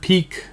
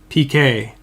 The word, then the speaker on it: Piqué: another one at 25 Gerard piqué oh I know I just said it wrong again didn't I PK I learned something from last time this is a guy his name is PK right Gerard piqué for